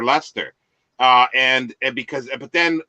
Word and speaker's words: Leicester: yeah I well I I actually pronounced that lycaster every time I read it like Esther because with a hard C for for Lester uh and because but